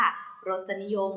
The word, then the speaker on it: รสนิยม: เสือ นอ หนู สระ อิ ยอ ยักษ์ มอ ม้า ค่ะ รสนิยม หรือ รสนิยม นะ คะ แต่ เด็ก นัก เรียน